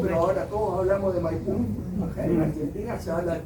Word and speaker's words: Maipú: ahora todos hablamos de Maipú. En Argentina se habla del Teatro Maipo. Hay un enredo ahí, dice que es una palabra mapuche, o eran los argentinos que hablaban con el acento en la U, en fin.